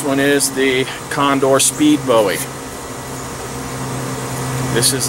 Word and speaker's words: bowie: not a knife blade it's not a bowie blade or buoy if you're a you know a pronunciation nazi i do like the